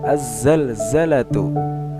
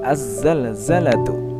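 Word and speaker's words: الزلزلة: Nah, zai ini termasuk huruf syamsiah. Makanya ketika membaca contohnya yaitu seperti az-zalzalatu. Nah, tidak dibaca alif lamnya. Jadi langsung melebur ke huruf zai. Az-zalzalatu.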